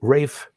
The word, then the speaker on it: Ralph: an english composer named rafe von williams that first name is spelled ralph but we have to remember that that it's only pronounced ralph in the united states everywhere else that spelling